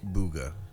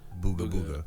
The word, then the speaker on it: Buga: The No, it's spelled uh it's spelled B U G A Booga. Booga as inga.